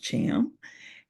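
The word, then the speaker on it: Tham: it's spelled t th h a m it's pronounced Cham and I am looking to get to Congress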